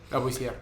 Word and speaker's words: Lavoisier: Lavoisier. Ajá, me encanta pronunciarlo en francés.